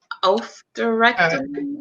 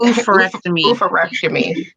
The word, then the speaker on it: oophorectomy: Can you pronounce it? Oophorectomy? Oophorectomy.